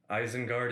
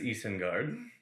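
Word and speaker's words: Isengard: he wrote things um smeagle and deigle are actually smeagol and diego eisenguard is easten guard there's a lot of names that are pronounced wrong and it's usually for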